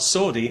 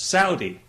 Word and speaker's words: Saudi: People have said to me, you know, you're pronouncing that wrong. It's not Saudi, it's Saudi. Well, okay, fair enough. I'm happy to pronounce it Saudi.